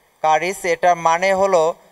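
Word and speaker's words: χάρις: এটা একটা গ্রিক শব্দ, এটা বলা হয়েছে যে উচ্চারণ কারিস।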